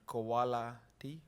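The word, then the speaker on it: Qoala-T: like MRI QC and Koala T I guess supposed to be pronounced as quality that can help you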